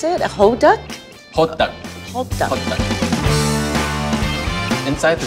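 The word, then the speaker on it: 호떡: How do you pronounce it? A hoduk?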